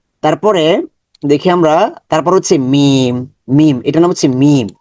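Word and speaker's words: ميم: মিম আমাদের বন্ধু মিম মিমের মাখরাজ ঠোটের বাহিরের ভাগ যুক্ত করুন ঠোটের বাহিরের অংশ আমরা দেখি দেখেছি যে বায়ের ক্ষেত্রে ঠোটের ভেতরের অংশ যুক্ত হয়েছে এখান থেকে উচ্চারণ বের হয়েছে আর এটা হবে মিম ঠোটের বাহিরের অংশ থেকে মিম ঠোটটাকে মিশিয়ে দিবেন মিম মিম মিম আচ্ছা তারপরে এটা হচ্ছে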